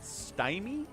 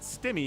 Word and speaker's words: Stymie: Yeah, see, if I see one M, I pronounce it Stymie. If you want me to pronounce it Stimmy, you gotta get 2 M's in there.